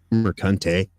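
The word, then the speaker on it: Mercante: that is you know Alysa marant pronounced merante uh like yeah this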